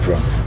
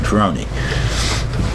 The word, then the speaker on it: Ferrone: they call it because they pronounce it Feron. My parents pronounce it Feron even though everybody still calls me Ferrroni.